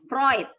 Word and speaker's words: Freud: Jadi teorinya Freud, tadi pengucapan yang paling benar itu punyanya Muhammad Walhamdu. Freud, teori Sigmund Freud.